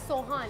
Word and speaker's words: Sohan: It's Sohan.